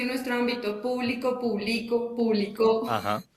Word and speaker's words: público: Público, de dominio público, lleva tilde en la U. Publico, no lleva tilde. Y es que yo realizo la acción de publicar. Publicó, con tilde en la U al final, significa que yo publiqué algo. Sí, las palabras se escriben